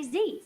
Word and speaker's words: Z: whilst on the topic Canadians pronounce letters differently to some in the US so for example I'll say Z Canadians will say Zed but in the US they will say Z in at number three